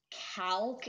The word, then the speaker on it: Calc: I think it's pronounced Calc. It's spelled C-A-L-C. So I think it's pronounced Calc.